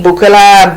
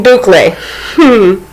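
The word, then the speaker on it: bouclé: So, I think I have been pronouncing it right because I was butchering it. Boucle, bouncy. But thank you, Boucle.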